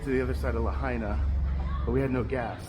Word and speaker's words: Lahaina: We got to get to the other side of Lahaina, but we had no gas, so we have